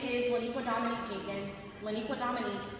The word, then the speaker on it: Leniqua Dominique: Leniqua Dominique is one first name. I'm going to pause let you get your pen and your paper. 16 letters, six syllables.